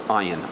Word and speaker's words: ayin: Their ayin sounds more. I can't even pronounce it. I'm not even going to. Maybe I'll try it. It sounds like it's guttural.